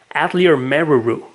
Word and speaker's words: Atelier Meruru: Atelier Meruru. I'm pretty sure that's how it's pronounced, since that is how the other characters pronounce it.